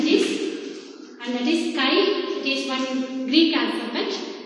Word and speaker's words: chi: this is pronounced as chi. It is written as CHI, but it is pronounced as chi, and chi is equal to electric susceptibility.